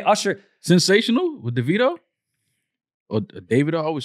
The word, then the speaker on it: Davido: perfect the way Usher Sensational with deito or Davido I always say his name righto he one